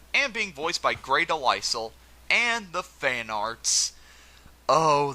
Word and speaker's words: DeLisle: But yeah, no, it's pronounced Grey DeLisle, though I think she goes by Grey Griffin now. It's not DeLisle.